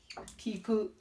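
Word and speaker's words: 聞く: Kiku. Sound, pronunciation is kiku.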